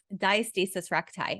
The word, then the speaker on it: diastasis recti: I want to also ask you about um diastasis recti am I pronouncing that right yeah totally okay so I